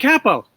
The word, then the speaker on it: Capo: have fan Capel on and she is a capo a capo how do I say her name correctly Frank a bo kaap oh okay all right Frank capo she's the world's fastest talker she's in the